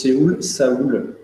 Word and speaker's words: Séoul: Depuis tout à l'heure, tu prononces Séoul. Ouais. Alors en fait, c'est la vraie prononciation de la ville.